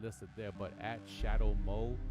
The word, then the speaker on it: Shadough: listed there, but at Shadow Mo. That's SHADOUGH, like shadow, like like Play-Doh type, not dough, not Play-Doh. That's stupid because they spell it DOH. Like dough, like sourdough. You know what I'm saying?